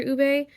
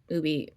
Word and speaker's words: ube: those desserts that feature Ube ubby I'm just going to say U because I think that's pretty much how we pronounce it in English um but a lot